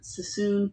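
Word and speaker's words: Suisun: It's the Sassoon Fairfield district.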